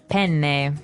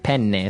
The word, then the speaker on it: penne: italian it would be penne penne so you you double pronounce the consonant what about fettuccine um